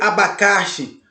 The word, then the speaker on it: abacaxi: Abacaxi não tem acento, mas você percebe que abacaxi, a sílaba mais forte é a xi, o xi. Você não pode dizer abacaxi ou abacas. Você tem que dizer abacaxi.